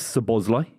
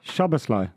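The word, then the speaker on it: Szoboszlai: what do you make of let's talk about Sir Bosley he's the big name Dominic so Bosley pardon that's how you say it you say it now Shabba Sly shovel yeah that's how you say it you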